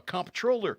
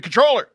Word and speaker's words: comptroller: you have is like we have a comp troller i'm pretty sure that's not how how that's pronounced i'm a comptroller it's like i don't think you should have that job if you don't know what that is supposed to be controller anyway i need more